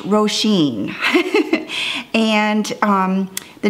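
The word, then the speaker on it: Roisin: I don't know if you can see cuz it's that cool black on black, but it's pronounced Roshene.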